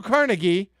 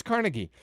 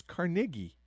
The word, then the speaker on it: Carnegie: no it's carna it's carnegie apparently it's scottish in a re he like it's it's carnegie i did not know